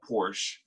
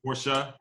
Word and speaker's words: Porsche: Is it Porsche? I mean, I've been told that it's actually pronounced Porsche. Oh man, I pronounce it the way the French pronounce it, but apparently Porsche is how they pronounce it.